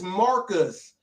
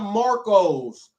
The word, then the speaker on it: Marcus: make a simple mistake his name is Marcus not Marcos like Marco's Pizza it's Marcus and when he said